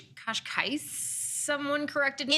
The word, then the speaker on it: Cascais: Yeah, Porto, Lisbon, Cascais, I think is how you say it. Okay. Kind of a beachy town. What was vibe. your favorite? Kosh. That's what they say, but I think it's Cascais.